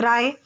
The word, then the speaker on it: सत्यजीत राय: यहाँ पे देखिए, यहाँ पे आपको जो सत्यजीत राय है बाबू, आपको राय पढ़ना है। ठीक है, रॉय बोल सकते हो, प्रोनाउंसिएशन इसका रॉय हो सकता है, लेकिन आपको रे नहीं पढ़ना है।